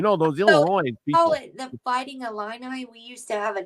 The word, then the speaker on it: Illini: it Illinois you know those Illinois the fighting Illini we used to have a chief my dad actually works at the University of Illinois but it's actually Eleni in in the Native American pronunciation the eyes are like he's kind of